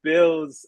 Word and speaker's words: Bealz: But so, what is Bealz about?